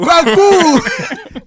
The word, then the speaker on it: Kwaku: Kwaku.